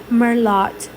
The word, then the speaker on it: merlot: at me melo merlot merlot listen this is how i would read it merlot but i know that t is silent guys that's what i